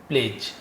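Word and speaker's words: pledge: प्लेज डीजी है तो वो साइलेंट होता है, जैसे एज होता है ना, वो डीजी लिखा दो, वैसी प्लेज।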